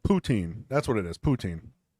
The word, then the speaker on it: poutine: just blasted it what was that Jenny said poutine that's what it is poutine that's that the fries and gravy and cheese it's it's what the Canadians oh yeah am I saying it right ptin yeah he's uh Austin's doing big in the